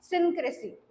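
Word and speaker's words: idiosyncrasy: so first word आपला आजचा आहे तो आहे इक्रेसी तर याच प्रोन्सशन कस करायचं इथ आणि याची स्पेलिंग काय आहे बघूया आपण करेक्ट स्पेलिंग आहे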